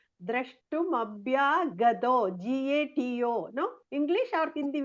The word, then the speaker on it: द्रष्टुमभ्यागतो: Then you have to see nicely and correctly you must pronounce Drashtum Abhyagato.